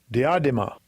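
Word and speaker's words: διάδημα: So let's have the Strong's pronunciation. Strong's G 1238. Diadema.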